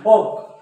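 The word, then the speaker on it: folk: म्हणतात वॉल्क नाही वॉक आणि फॉल्क नाही फोक फोक फोक म्हणजे काय लोक लोकांचे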